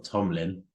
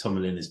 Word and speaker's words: Tomalin: But Owen Tomalin, or Tomlin, but it was Tomalin, he told me how to say it.